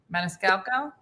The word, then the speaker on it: Maniscalco: say his name montuso Monte you say it Maniscalco oh mcal that's it that's the one that's